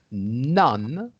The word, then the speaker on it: none: as in the word none. You see, it's Yes. None, but it's pronounced as though it's Nun, like none.